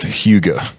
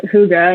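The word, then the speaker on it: hygge: this is interesting so the Danish concept of Hugo okay and then for those that are listening that is spelled h y g g e um tell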